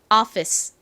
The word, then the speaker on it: office: 한국식으로는이 단어를 피스라 읽는데 실제 미국식 영어 발음으로는 오가 오 소리가 아니라 어에 더 가깝게 발음이 된다고 말씀드렸죠 그리고 앞쪽에 강세가 옵니다 그래서 Office Office 이렇게 발음이 되죠